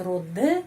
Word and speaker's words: род: Kita menulis род, tapi bacanya род.